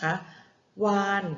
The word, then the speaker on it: วาฬ: ว่า วาฬ นะ คะ คำ ว่า วาฬ เด็ก ๆ เห็น ไหม คะ วอแหวน สระอา ตัว สะกด คือ ตัว รอ chula นะ คะ วาน เรา เขียน รอ จุฬา เป็น ตัว สะกด นะ คะ แต่ เวลา เรา อ่าน เพราะ อ่าน นอ หนู เป็น ตัว สะกด วอ อา นอ วาน นะ คะ